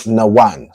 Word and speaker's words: Nawan: So Nawan. So you have Na, Wa, and Na. First Na is pronounced fully, and then the Wa and the Na are connected to make one.